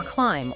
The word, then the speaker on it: climb: And there's the silent B too, right at the end of words sometimes. That's right. Like in thumb or climb or doubt. The material uses that sentence, I doubt he'll climb with a sore thumb again to show that B is just gone.